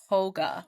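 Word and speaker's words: hygge: how to say but I think it's pronounce h hold on because I did Google I I did chat G it's I did too H pronounce hogga h I call it I call it Hy because oh it it does it does look like that but it's a it's Danish right it's like the Danish way of so track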